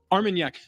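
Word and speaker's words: Armagnac: pronunciations what what is armak armak AR like Armen yeah Yak armak so it's in 75y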